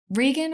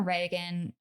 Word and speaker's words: Regan: So the second one is Linda Blair, who is the 12-year-old playing Regan or Reagan. It's spelled Regan. I like Regan. I think it sounds cool.